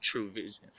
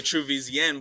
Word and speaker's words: TrueVZN: can i switch this up and still keep true vision yes but it's spelled so it's spelled t r u e